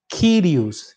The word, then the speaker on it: kyrios: vem junto de vogal ele não tem som de u de uva ele tem som de y kyrios Senhor do curso nós